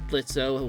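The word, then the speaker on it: Blitzø: gather Intel it was blitzo just in a new hero suit that included a jacket though he now went by the hero name spider Blitz with a silent o he seems to be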